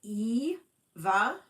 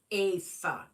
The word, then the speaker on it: Eva: Um, yeah, because most Europeans, that's how they pronounce it.